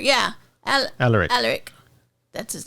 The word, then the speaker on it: Alaric: Alaric. Yeah, Alaric.